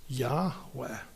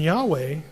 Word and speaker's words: Yahweh: name is I am which in Hebrew when the first person speaker is speaking is when you refer to that person the pronunciation is Yahweh and Yahweh you know what it